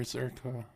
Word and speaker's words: Zherka: Your name is pronounced Gurka, not Zherka. It's Zherka, You are my neighbor fucking idiot.